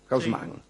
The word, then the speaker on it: Haussmann: En 1853, el día en que Hausman prestó juramento, como digo la pronunciación que se usa en París, Hausman. Después si usted quiere podrá decir otra cosa.